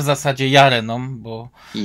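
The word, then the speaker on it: Llarena: Lareną, a w zasadzie Jareną, bo tak Jareną, powinno tak, się. bo tutaj Jareną, tak. popełniamy ten błąd już od dłuższego czasu. Te hiszpańskie podwójne L to jest J.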